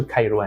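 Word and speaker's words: Kairouan: เมือง เจวัน เกวน นี่ ออก เสียง แบบ สำเนียง ฝรั่งเศส จริง ๆ มัน ก็ คือ ไค รวน อ เหมือน ไคน นะ ครับ ก็ เป็น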